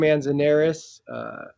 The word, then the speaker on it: Manzanares: pronunciations of everything, because my brain is not pronouncing things appropriately. My name is Manzanares.